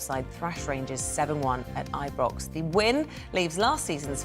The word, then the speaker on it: Ibrox: I was like, did I get the Did you say pronunciation? Ibrox? Yeah, it is Ibrox.